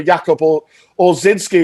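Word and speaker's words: Jakub Ojrzyński: You got the Polish goalkeeper Jakub or Zinski is how you say it.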